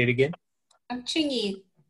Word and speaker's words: Chingy: I'm Chingy. Chingy. It's like with a C-H-I-N-G-Y. That's how you say it.